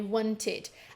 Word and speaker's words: wanted: Agora a gente tem esse sonzinho de id, que a gente costuma ter, né, quando uma palavra termina em ed e a última letrinha, né, daquele verbo na forma base é t ou então d, ok?